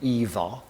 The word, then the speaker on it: Ingvar: Uh, he would have pronounced his name Eva and spelled it Ingvar.